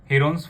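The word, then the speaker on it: Heron's: Today we will start new chapter of class 9th, chapter number 10, हेरोन्स formula. But actual में इसकी pronunciation है हेरन्स formula.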